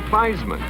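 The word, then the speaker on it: Theismann: Notre Dame's Joe Faceman even changed his name to feisman so it would rhyme with Heisman if any second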